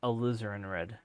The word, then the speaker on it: AlizarinRed: I've had people say oh, it's said as AlizarinRed, almost like a lizard in red, without the D though. It says AlizarinRed.